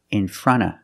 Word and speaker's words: in front of: front of the TV the NT in front is between vowels so you don't really hear the T you hear in front in front and because you have a consonant after the F in of you don't have to pronounce that either so you hear in